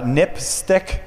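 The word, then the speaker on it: NPSTC: Safety telecommunications commission um which is pronounced uh nipstick which is kind of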